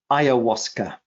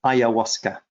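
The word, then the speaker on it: ayahuasca: ever used with thymus gland and syphilinum was iasa um now some people will want me to spell that because it's a funny name so it's spelled a y a h u a s CA aasa this is a lana it's a Vine from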